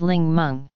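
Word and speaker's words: 檸檬: For example, the Mandarin word Ningmen, meaning lemon, came from Cantonese, in which the characters are pronounced as Ling Meng.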